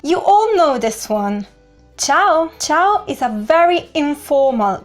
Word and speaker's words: ciao: both of these occasions the right pronunciation is ciao not ciao ciao no ciao then we have Salva